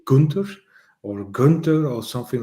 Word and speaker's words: Gunther: with me I have Gunter Gunter is that how I should pronounce it in English I think so just a double Che